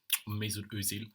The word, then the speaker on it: Özil: to think about me Özil um meil how it's actually pronounced in German um but yeah you